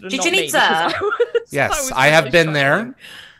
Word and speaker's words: Chichen Itza: Ah, I'm glad you pronounced it. Chichen Itza.